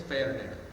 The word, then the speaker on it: Ferner: It's spelled like Ferner, Yeah. like the plant fern with an ER, but you have to say it in Spanish, so it's Ferner.